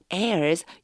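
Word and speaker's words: heirs: 왔습니다 25 and your airs 요거 발음 조금 조심하셔야 돼요 Air Air airs 상속자요 그리고 너희는 상속자이다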